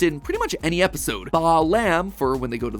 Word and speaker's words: Balaam: All three of them, Bael, Pie Man, and Ba lamb, are phonetic ways of pronouncing the names Bael, Paimon, and Balaam, three king demons from the Ars Goetia.